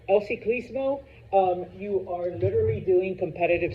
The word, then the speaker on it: ciclismo: So it's not like el ciclingo, all right, or el cicling. No, el ciclismo.